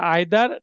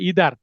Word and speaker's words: either: এটা এটা ঈদের যে কোনো বর্ণনার এটার ইংরেজি হচ্ছে আইদার ডেসক্রিপশন। আইদারকে অনেকে উচ্চারণ করতে পারে ইদার।